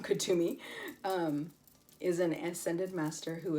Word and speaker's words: Kuthumi: Okay, so Kuthumi, pronounced as Kutumi, I guess I'm saying it wrong, Kutumi, is an ascended master who appears to be well-dressed Indian man with a golden aura.